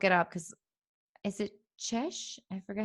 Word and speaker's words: cześć: up because is it Czesh? I forgot how to say it. Hold on. Yes. Here we go. Oh, my stupid phone. Cześć. Cześć. That's how you say it in Poland.